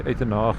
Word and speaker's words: Uitenhage: It was already established in 1804, and it is, well, Uitenhage, I'm not sure what the correct pronunciation is. In Afrikaans we say Uitenhage, in English of course Uitenhage, but the name comes